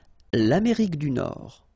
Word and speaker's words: Nord: Final D not pronounced. L'Amérique du Nord.